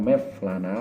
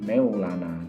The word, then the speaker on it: Mevlana: yang ada di Turki Jadi mereka membacanya itu bukan mevlana tetapi meylana jadi itu adalah huruf